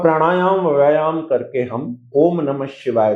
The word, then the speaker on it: नमः शिवाय: लेकिन ओम नमः शिवाय का जो रियल उच्चारण है, ईशान दिशा में ऐसे करना चाहिए जैसे मैं बोल रहा हूं। एक बार नाम शिवा नाम शिवा।